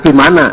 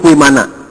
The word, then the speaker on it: Vimana: Kalau V dibacanya W. Jadi bukan Vimana, tapi Vimana.